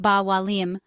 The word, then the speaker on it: ba mhaith liom: In Irish, you would say ba mhaith liom, pronounced ba wa liam, followed by the item you want to order.